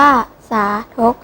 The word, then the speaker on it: สาธก: สามี ครั้ง นะ คะ คำ ว่า สาธก อ่าน ว่า สาธก หมาย ถึง ยก ตัว